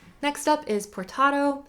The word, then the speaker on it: portato: next up is portato spelled like potato but you have an r in there portato is just several